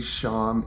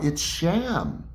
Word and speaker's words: Sham: Is this the Sham? Yes, and it's pronounced like it sounds like shampoo without the poo, just Oh sham.